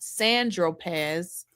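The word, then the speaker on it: Saint-Tropez: So, Agnifos says, "When you bought the eight ball of Coke on St. Tropz, Tropz, pronounced Sandropz."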